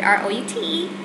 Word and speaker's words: route: u r o u t e the word r o u t e some people pronounce it as root and some people pronounce it as route but